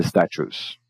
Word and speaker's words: statues: Percebe que statues, cada T tem um som diferente, né? O primeiro tem um som do T, o segundo tem um som do Ch, que é um som mais comum para o CH, por exemplo, e o U com E só no U longo, né? Statues, não statues, né? Statues. E a tônica no Tá, ali, né?